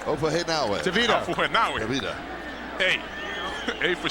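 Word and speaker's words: Ofahengaue: Ofahenawe. Ofahenawe.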